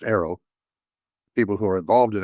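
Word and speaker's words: AARO: But it's it's a challenging situation and it's interesting and the the people that uh are involved on the uh a it's pronounced arrow.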